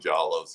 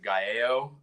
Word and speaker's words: Giallo: I mean, and I've always pronounced it Gallo. Like I always pronounced Giallo. I always thought it was Gallo.